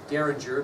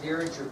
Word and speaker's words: Derringer: Derringer, if you're interested, is spelled D-E-R-R-I-N-G-E-R. So it's D-E-R Ringer, basically.